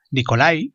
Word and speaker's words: Nikolai: Hoy aquí en Crónicas Lunares hablaremos de Las almas muertas, una de las máximas obras de Nicolás Gogol, Nikolai, como se pronunciaría normalmente, Nicolás Gogol, perdón.